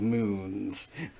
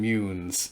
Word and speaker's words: Mune: of moons I mean munes my screen R pronounces it mun it's mun in vda for the last time screwing up the way I pronounced my Star Wars words mune muu N with that I'm going